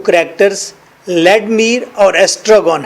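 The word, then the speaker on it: Vladimir: एस्ट्रागॉन, inter लेडमीर, लेडमीर, लेडमीर, वी को silent करेंगे, we silent, लेडमीर, लेडमीर, लेडमीर second character है।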